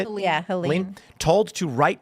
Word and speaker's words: Helene: Click Orlando says Florida residents who choose to ride out, is it Helene? Is that how you say it? Yeah, Helene.